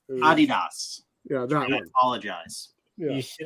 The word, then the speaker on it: adidas: like oh crap and i believe they pronounce it in america as i did your ass or something like that adidas yeah don't apologize you